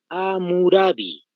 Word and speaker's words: Hammurabi: Con la H al inicio, doble M. Hammurabi, tal como se escucha.